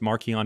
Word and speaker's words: Marcion: The gospel, according to Mark, would be like, Marcion. Marcion's name was actually pronounced Markion. It means little Mark.